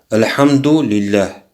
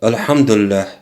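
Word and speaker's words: الحمد لله: пускай он говорит альхамдулилля очень важно говорить это слово правильно многие мусульмане не могут его произносить например говорят архангеле если сказать альхамдулилля это означает хвала это аллах это ошибочно правильно произносить его разделять вот эти два слова аль-хамду потом говорится не ала али для альхамдулилля вместе когда произносится говоришь хандогий для сразу без остановок альхамдулилля и говорит посланник аллаха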